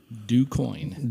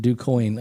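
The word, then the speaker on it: Du Quoin: the pronunciation of decoying dewcoin dewcoin okay just like it's spelled just like it sounds du space q-u-i-o-n man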